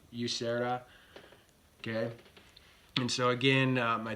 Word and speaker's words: Usera: it or say it it's a spanish name there's a dick district in madrid spain with the name yusera okay and so again